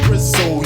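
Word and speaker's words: Brizzl: These are the words from the official B-R-I-Z-Z-L, pronounced Brizzo.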